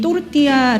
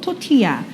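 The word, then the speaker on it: tortilla: 다르게 나타납니다 자 그러면이 또르띠아 거 여러분들은 아마 토티야 알고 계실 거예요 그러니까이 멕시코 문화라는 것이 미국을 통해서 우리나라에 전달이 됐기 때문에 그래서 이제 영어식 발음으로 토티야 그리고이 옆에 보시는이 음식네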